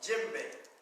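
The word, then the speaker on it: djembe: name is what bank so this drama is called what jim bay okay sometimes you'll see it spelled d-j-i-m-b-e sometimes it's spelled d-j-e-m-b e sometimes it's spelled like that so that's gem bait now i want to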